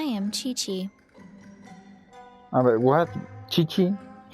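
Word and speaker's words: Qiqi: Chichi. Supongo que es la pronunciación en japonés o lo que sea el idioma origen de este juego. Kiki es Chichi. Ok, le diremos Chichi.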